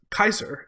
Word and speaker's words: Caesar: who caesar was Julius Gaius Julius Kaiser if we're to use Latin pronunciation was it not so